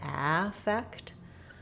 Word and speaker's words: affect: And that sounds like ah with the black cat vowel, affect. So it's the same second syllable, but in this case, because it's the noun, the first syllable gets stressed, affect, versus affect.